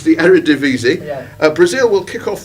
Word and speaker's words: Eredivisie: I can't pronounce it. Arriva. Yeah, I'm going to give you that because you were as close as Lewis were. Oh. It's the Eredivisie.